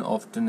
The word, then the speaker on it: often: The T is in, often is silent.